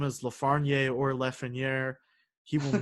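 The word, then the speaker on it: Lafrenière: I mean, it's Lafreniere. It's like French. He's Canadian. I totally thought it was like Lafreniere.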